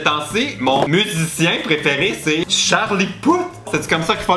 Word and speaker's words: Charlie Puth: Ces temps-ci, mon musicien préféré, c'est Charlie Puth. C'est comme ça qu'il faut le prononcer.